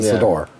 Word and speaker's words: Sidor: No, it's not cedar. Nor is a cedar. No, a cedar nor a satyr. He's a Sidor.